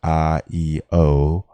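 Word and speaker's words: IAO: isis apophis and osiris i a o pronounced i-e-o forms the name of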